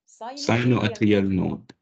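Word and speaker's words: sinoatrial node: لا اسمعني يا مراد نقسمها مقاطع. يلا هنقول ساينو اتريال نود. يبقى اسمها ايه؟ ساينو اتريال نود.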